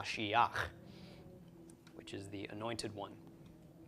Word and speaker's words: Mashiach: So we've got ma, shi, instead of ma, shi, cha, this is ma, shiach, which is the anointed one, or an anointed one.